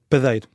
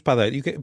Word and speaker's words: padeiro: geral da língua portuguesa, a sílaba pá é uma sílaba átona e por isso a vogal deveria ser mais fechada. Padeiro. Agora, por que razão é que não é? Porque no início da língua isto eram duas vogais, pá, adeiro, pana, pana